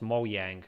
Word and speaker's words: Mojang: But I also read that in Swedish it's pronounced Mojang, because in Swedish the J is a Y kind of thing.